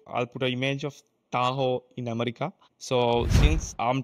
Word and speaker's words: Tahoe: version will be called Tahoe Tahoe not taco it's taho taho taho it's is like a like a river or a mountain in America.